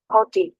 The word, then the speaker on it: haughty: गुरु ने मतलब हाँ, गुरूर वाला मगरूर, हॉटी, ऐसा नहीं, Haughty.